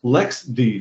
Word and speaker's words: LXD: is pronounced lxc but lxd is actually pronounced Lex D for some reason the